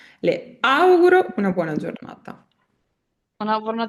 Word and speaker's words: auguro: Le auguro, quando dite le auguro, fate cadere l'accento sulla A. Le auguro una buona giornata.